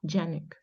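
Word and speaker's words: Janeček: you know it's a so I think the pronunciation is German or Austrian pronunciation I can't make out okay j-a-n-e-c-k right Yannick okay j a n a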